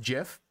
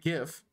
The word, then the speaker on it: GIF: Yeah, make your name Jif, and whenever anyone pronounces it GIF, correct them to say it's pronounced Jif.